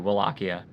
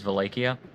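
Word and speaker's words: Wallachia: Your first pronunciation is the correct English way. Okay, thank you, Wakia, but I guess the correct Romanian way is Valleia.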